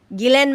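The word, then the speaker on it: Ghislaine: Gileen Maxwell is is actually how it's pronounced.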